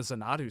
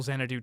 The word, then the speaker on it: Xanadu: Uh, now I got to look at the Zenatu series. Xanadu. It's pronounced Xanadoo.